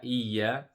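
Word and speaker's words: إِيَّا: So the ya, both of the ya, iya, it has a shadda and it also has a mud, the short mud. So we stretch it for 2 seconds and then we pronounce the ya with the shadda. Iya. Remember the shadda, the first sound will be sukun and the second sound will be the one with the vowel.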